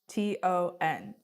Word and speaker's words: Cheston: It might be pronounced wrong, but that's how it's spelled. What is it, Cheston? It's Cheston.